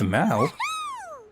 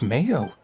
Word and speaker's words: Mao: if things pick up thank you chef mauo chef Mao I've been saying Chef Mayo today is full of